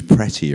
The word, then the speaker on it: pretty: It's pronounced as the short I.